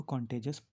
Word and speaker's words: contagious: कॉन्टेजस, इसको कॉन्टेजस प्रोनाउंस करते हैं।